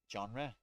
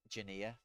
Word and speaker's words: genre: because I never uh you know how I used to say it when I didn't know how to say it I said Junior because I just I don't know I don't know how to say these words no I don't think junior is genre yeah no that makes